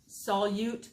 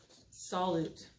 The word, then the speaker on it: solute: everywhere dog age because that is probably the most mispronounced word in my eighth grade science classes solute solute and I even had a sub once the first time we went out with the first time we did this I had a sub and the sub pronounced it solid and it was awful